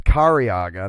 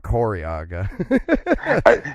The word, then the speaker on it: Kariaga: It's Kariaga, not Koriaga.